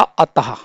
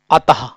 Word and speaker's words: अतः: हम उच्चार करते हैं तो इसका उच्चारण हा की भाति होता है कैसे होता है हा की भाति होता है जैसे हमने एक शब्द लिखा अतः अतः दूसरा शब्द हमने लिखा प्रातः आप देखिए अतः का जब हम उच्चारण कर रहे हैं तो अंत में जहां पर विसर्ग है तो वहां पर किसकी ध्वनि आ रही है हा की ही